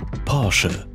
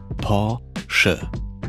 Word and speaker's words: Porsche: Porsche. Porsche.